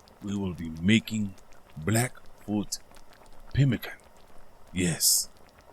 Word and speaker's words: pemmican: Today we will be making Blackfoot Pemmican. Yes, Pemmican.